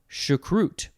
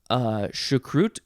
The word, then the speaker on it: choucroute: Okay, next we have choucroute.